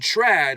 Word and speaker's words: trad: that schwas sound and Trad rhymes with Chad and Brad and in addition to